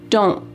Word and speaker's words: don't: In American English, often times a T at the end of words will be cut off. We call this a stopped T because your mouth is making that shape. Don't. My tongue is at the top of my mouth trying to make that T shape, but there's no puff of air that comes out.